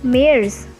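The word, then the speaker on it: März: february called is febual march is different in pronunciation it is called as mayors then april is same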